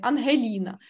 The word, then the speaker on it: Ангеліна: Але чисто моє ім'я, так як воно звучить в українській мові, не вимовить ні один іноземець. Горлову ось цю Г ми можемо тільки ми. Оце гекать і шокать. Ангеліна.